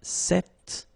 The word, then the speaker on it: cet: So it's quite interesting because if you listen carefully, the masculine form here, cette, and the feminine form here, cette, you write them differently, but then you pronounce them the same way.